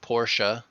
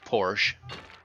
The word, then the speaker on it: Porsche: an Audi and here the word Porsche does not have the uh on the end you drive up Porsche foreign Audi or Audi this first one the second one Audi Audi Porsche uh Porsche Audi not